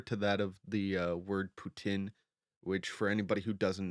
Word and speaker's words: poutine: french and english uh we pronounce it putin because of the i-n but in the western